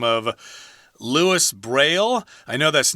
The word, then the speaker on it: Louis Braille: we're speaking English here we're gonna stick to the English pronunciation of Louis Braille whenever you heard the